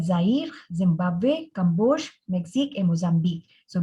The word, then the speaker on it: Zimbabwe: So Le Belize, Le Zaire, Le Zimbabwe. Zimbabwe is an exception to the rule that final E is not pronounced, but here it is pronounced.